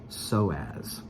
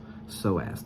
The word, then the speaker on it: psoas: muscle now it's spelled it starts with a P just to be confusing to you but it's silent so you don't pronounce P it's p-s-o-a-s and that is pronounced so as so as the psoas muscle so